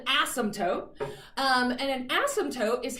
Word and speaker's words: asymptote: to have an asymptote except you don't actually say the p i have to say it in my head every time i spell it because there's this stupid silent p alright so it's really called an asymptote um and an asymptote